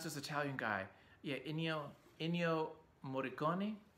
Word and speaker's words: Ennio Morricone: How do you pronounce this Italian guy? Yeah, Ennio Morricone, Ennio Morricone, you know, the Italian composer for like the spaghetti western stuff, Sergio Leone stuff.